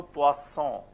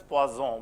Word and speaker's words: poisson: So poisson. Any confusion, suppose you read it as poison, what will happen? What will happen? You ask for poisson, fish, and what you get is poison. Okay? Because of sa and za.